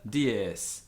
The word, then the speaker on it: dies: S always hissed, never as z. Dies, dies. This is tricky if you're English, because the temptation is to go dies.